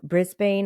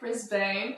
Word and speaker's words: Brisbane: how to pronounce it yeah Brisbane it's very Australian as well how I'm saying it Brisbane okay I don't